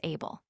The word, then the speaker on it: Abel: The sound of the original word was more like heel but through the Greek we receive it as Abel.